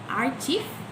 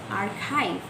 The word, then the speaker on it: archive: word when pronouncing it for example pronouncing photographer instead of pronouncing photographer and pronouncing archief instead of archive when we had to